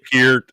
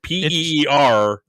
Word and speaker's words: Peart: It is Pert, actually. it's Peart. If you look everybody up says the Peart. phonetic, if you look up the phonetic pronunciation, everywhere I saw it said Peart, Peert.